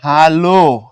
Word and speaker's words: ভাল: এটার উচ্চারণ যদি তুমি করো হচ্ছে ভালো। মানে ও দিয়ে যদি করো আর কি অথবা ভালো ও দিয়ে যদি করো সেক্ষেত্রে এটা হল গিয়ে গুড আর যদি উচ্চারণ করার সময় ভাল করো এখানে একটা হসন্ত কল্পনা করে কর হসন্ত দেয়া হয় না যদি ভালো করো সেক্ষেত্রে উচ্চারণ মানে অর্থ হয়ে যাবে কপাল বা ভাগ্য নিচের কোনটি অগ্নির সমার্থক